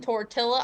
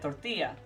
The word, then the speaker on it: tortilla: that's borrowed from Spanish the two L's are pronounced more like a y sound so that's where you get tortilla as opposed to Tortilla yes and the uh